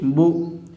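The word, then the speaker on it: بُ: Now I am giving Pesh over the Ba, and you have to pronounce this one Ba Pesh Bu.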